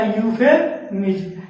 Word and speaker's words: euphemism: जैसे आपको देखिए यहाँ पर क्या मिला यूफेमिज्म, EUPHEMISM, इसको हम क्या पढ़ेंगे यूफेमिज्म।